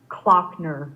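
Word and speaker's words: Klockner: your last name yes my last name is pronounced clockner just like the clock on a wall so clockner glockner okay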